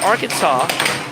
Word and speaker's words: Arkansas: Drip uh drip saying the reason it's pronounced Arkansas is because of the linguistics of the French language.